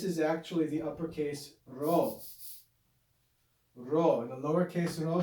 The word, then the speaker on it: rho: the lowercase rho and it makes the sound of the classical trilled like a spanish if you can't make the trill sound it's no big deal pronounce it like an english r ra the letter r the